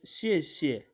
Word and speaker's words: 谢谢: a word like this the first word is having fourth tone and the second word is this so it is having a fifth tone a neutral tone and it can be pronounced is shishi shishi thanks and after